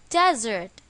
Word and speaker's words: desert: the correct answer is Desert I want to go to a desert and see what it really looks like where is the stress in this word on the first syllable since it is a